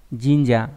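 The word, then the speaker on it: 神社: Đa số đọc là shin, riêng trong từ thần xã đọc là jinja đúng không nhỉ? Jinja là đền thờ đạo thần.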